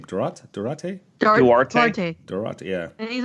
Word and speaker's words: Duarte: Duarte?